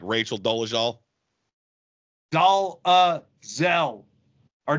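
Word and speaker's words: Dolezal: well Vicki like like Rachel dolal doel her name is pronounced doelle that's the way she says it that's the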